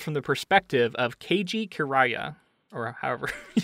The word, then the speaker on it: Kiriya: the last name was Kiriya, kind of close to like Korea, but like K-I-R-I-Y-A.